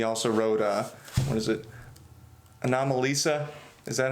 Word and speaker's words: Anomalisa: I mean, yeah, because that was a made-up word. Because the word is anomaly, and he added Lisa to it. Like a girl, Anomalisa.